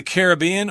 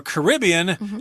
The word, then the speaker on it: Caribbean: And they also grow in the Caribbean, or Caribbean, as people sometimes say, Cuba, Puerto Rico, Jamaica, places like that.